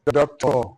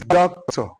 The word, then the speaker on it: doctor: Anytime you are pronouncing a noun of 2 syllables, the first syllable, which is the left, receives the stress. It's not doctor, no way, it's doctor.